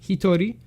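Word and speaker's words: 人: So this one can be pronounced as hito, when used in hitori as one person or alone.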